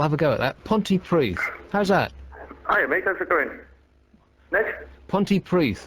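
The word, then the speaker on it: Pontypridd: nutshell in a nutshell Ponty PRI with two D's how how does two D's manifest itself as th um how's it going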